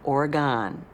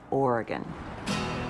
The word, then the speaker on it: Oregon: I have to say is not pronounced origon it didn't go anywhere there is not any on the end of it it's Oregon a former governor of